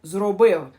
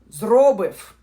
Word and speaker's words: зробив: Have done in the Ukrainian language sounds like зробив. The second syllable is stressed, зробив. And at the end they pronounce something between V and W, зробив.